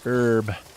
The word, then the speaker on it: herb: run to this special herb. We call them herbs in the US. In Britain and in Canada, you call them herb. You pronounce the H like it's not silent.